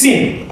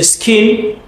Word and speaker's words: scene: e and P so this scene this C yes is silence can't be pronounced don't say skin or scenes yes and then science